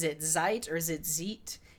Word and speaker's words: Zeit: site or is it Zeit Amy says when I and II go walking the last one does the talking so ze I T so it should be site because I comes